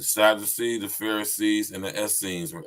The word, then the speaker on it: Essenes: Listen, the Sadducees, the Pharisees, and the Essenes, or Essenes, as I like to pronounce it.